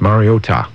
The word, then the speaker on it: Mariota: It's Mariota. All right, then. All right? There we go. Scott, how do you pronounce it?